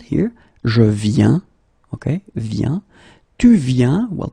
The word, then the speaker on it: viens: that for the singular you will put this VIEN, and then you will add S for je, S for tu, and T for il, elle. Okay, and phonetically it's it's the same form.